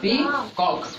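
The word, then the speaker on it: peacock: और देखो इसको पढ़ो, इसको क्या पढ़ते हैं? पी कॉक। क्या ए पढ़ रहे?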